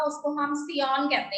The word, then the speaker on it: scion: तो जिसमें से हमने स्टेम वाला पार्ट लिया है प्लांट का उसको हम सियॉन कहते हैं। ठीक है बेटे, सियॉन के स्पेलिंग है SCION, सियॉन।